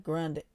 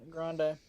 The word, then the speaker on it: Grande: it's pronounced Grand yeah it's like you know when you order from Starbucks they call it a grande right you're right it's